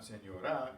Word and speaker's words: señora: Señora, there are three syllables. It's not señora, it's not señora, it's señora. That's the next to the last syllable.